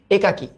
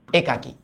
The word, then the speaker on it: একাকী: যেমন সিমিলারলি এইটার কথাও যদি চিন্তা করো, এটাকে আমরা অনেকে বলি একাকী, সরি একাকী, বাট এটার উচ্চারণ কিন্তু অ্যাকচুয়ালি একাকী, একাকী।